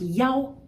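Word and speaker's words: 幺: and that is that the number one can be pronounced yao rather than e when reading single digits.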